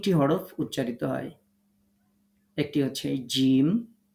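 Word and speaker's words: ج: যেখানে এগুলো লেখা থাকবে তো জিম শিন এবং ইয়া তাহলে তিনটা হরফ জিহ্বার মাঝখান থেকে তার বরাবর উপরের তালুর সাথে লাগিয়ে শক্ত করে উচ্চারণ করতে হবে এই কথাটা সুন্দর করে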